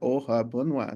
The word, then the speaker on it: Ohuabunwa: while I work actually how do you pronounce your name and I was like OHA Bona they said I would